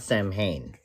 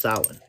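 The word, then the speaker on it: Samhain: It's I mean, it's not Sam Hayne like you see it here. It's pronounced sin.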